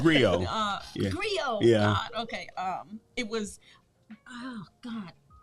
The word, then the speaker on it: griot: first time hearing um how you say it griot yeah it's rio um it was oh